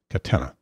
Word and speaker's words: Katena: The brand name now is Katena, like antenna, Katena. I pronounced that wrong in the past.